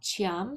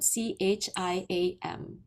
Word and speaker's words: Chiam: pronounced dot Chiam, Chiam.